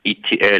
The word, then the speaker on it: Itiel: My name is uh doctor Itiel, and you pronounce Itiel like the letters E T I E L. You know the movie E.T. So, with an L.